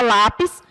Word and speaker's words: lápis: Nós vamos observar mais uma vez, por exemplo, aqui a palavra lápis, que a gente separa lápis, e aí o pis é a última, e o lá é a penúltima sílaba da palavra.